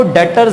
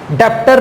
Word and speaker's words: Debtors: आ जाओ उसमें आपको डेटर्स दिया हुआ what is good डॉक्टर डॉक्टर नहीं पढ़ना उसको भी साइलेंट है वहां पर वह सर्विस को डॉक्टर पढ़ते डॉक्टर नहीं है Doctors है डेटर्स ठीक है अब लीडर्स